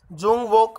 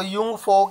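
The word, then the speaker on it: Jungvolk: तो हमने यहाँ डिस्कस किया जूंग वोक, वैसे इसको यूंग फोक इसकी राइट प्रोनाउंसिएशन होगी यूंग फोक, जो JUNGWOLK है। Nazi youth group of children below the 14 years of age.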